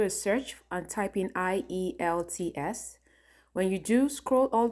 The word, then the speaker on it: IELTS: It's pronounced IELTS. For many of you who are wondering, it's pronounced IELTS.